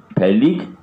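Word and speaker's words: phthalic: लिख लीजिए, स्पेलिंग क्या होती है, PS साइलेंट होता है, THALIC, थैलिक एसिड।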